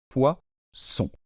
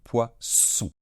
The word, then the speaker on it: poisson: avec deux ais et si on est entre deux voyelle et c'est le cas ici pour faire le son ce ce ce fort il nous faut faut de S et donc c'est pour ça que un poisson qui nage dans l'eau prend de S et se prononce poisson alors ce s il est davantage fermé on laisse moins passer l'air d'accord et on fait donc poisson alors qu'un poison quelque